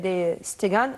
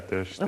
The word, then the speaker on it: ter Stegen: Ramos charged into hit Luka Modric's free kick past goalkeeper Marc-Andre de Stegen. Am I pronouncing his name right? Yeah, ter Stegen, okay. I think. Stegen, yeah.